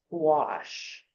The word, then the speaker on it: gouache: that comes in tubes it's spelled g o u a c h e it's pronounced wash I guess it's a French word is it French yeah wash it's opaque water color